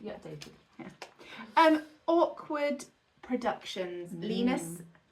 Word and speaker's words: Linus: Linus rhymes with Venus, and Joseph Yes.